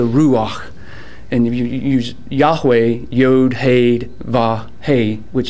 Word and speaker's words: Yahweh: and if you use yahweh yod haid va hey which is the hebrew for yahweh yahweh it's actually these breathing marks sounds they're not really pronunciated letters or other hebrew letters in the alphabet so when they would